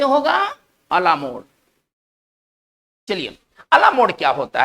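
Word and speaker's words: à la mode: इसका जो उच्चारण होगा, ये फ्रेंच वर्ड है और इसका जो उच्चारण होगा वो इस तरह से होगा, अलामोड।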